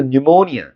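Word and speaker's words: pneumonia: 이거 뭐 파닉스에서 배운 대로 읽으면 어 뭐 프뉴모니 어 뭐 이런 식으로 읽을 거 아니야. 근데 이거 피발음 안 나. 그래서 발음 기호 기호에 보면 피발음이 안 적혀 있어. 그래서 뉴모니아 요렇게 읽는 거야.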